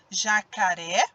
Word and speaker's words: jacaré: Observem o som quando eu pronuncio cada uma dessas palavras. Jacaré. Ó, de novo, jacaré. O ré, ele é a minha sílaba tônica. Por quê? Porque essa sílaba, quando eu pronuncio, o som que eu emito, ele sai com mais intensidade, mais forte.